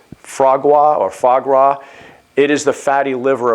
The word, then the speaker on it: foie gras: You want to talk about, I'm not sure if I'm pronouncing it properly, and in fact, our friends in France could probably correct me on this, but I believe it's foie gras.